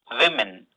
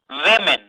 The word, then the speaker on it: women: Women. Women. Letter O is pronounced as E. Busy.